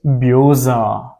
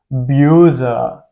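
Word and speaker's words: böse: it bit S A yeah and the real pronunciation is bua it is bua bua yeah and the meaning is angry in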